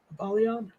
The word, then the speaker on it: Apollyon: grenade thank you um apollyon i'm guessing is how you say it is that correct apollyon it is now okay it is now